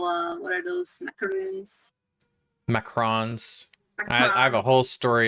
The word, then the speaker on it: macaron: to this Bakery and me and my wife were totally mispronouncing it he kept correcting it correcting us and we're just like macaroons and he's like macron so let me get you five macron so it's a whole